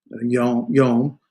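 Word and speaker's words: יום: This is a monosyllabic, one syllable, right? There's no division in it. And you got a consonant, vowel, closing consonant. So it's a monosyllabic, one syllable, and that is yom.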